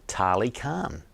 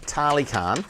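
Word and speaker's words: Tali Karng: Lake Tarly Khan. It's spelt T-A-L-I, and then the second word Khan is K-A-R-N-G.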